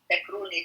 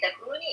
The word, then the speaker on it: Takruni: Takruni. Takruni, it means from Takrur country means African, but with bad way.